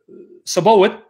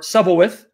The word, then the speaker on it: Sabaoth: It's Sabaoth or Sabaoth, right? However you want to pronounce it.